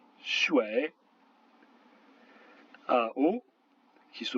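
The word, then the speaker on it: 水: UI se prononce wei, comme dans mouais, par exemple le mot qui veut dire l'eau, shui.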